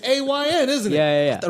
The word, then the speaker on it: Ayn: I never seen Ann spelled like that. It's A-Y-N, isn't it? yeah. I thought it was and. Oh, it's Ayn Rand?